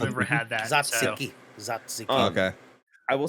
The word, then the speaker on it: tzatziki: And then also, how do you pronounce the that Greek yogurt and cucumber and dill sauce? Satsini. Tzatziki?